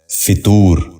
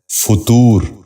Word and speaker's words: فطور: غور سے سنیے، فالج۔ چھٹا لفظ ہے فطور۔ یہ غلط تلفظ ہے، درست تلفظ ہے فطور۔ دوبارہ سنیے، فطور۔ بچوں